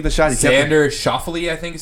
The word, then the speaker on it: Schauffele: What about that child making noise during Xander Oh, Schauffele's?